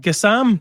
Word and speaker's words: Gassama: Ryan, we'll talk about a fourth player, Gassama, as I'm led to believe you're meant to pronounce it.